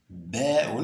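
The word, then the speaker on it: باء: Ba'un, donc, vous laissez, n'est-ce pas, la langue dans la partie inférieure de la bouche et vous ouvrez légèrement la bouche. Donc, ba'un.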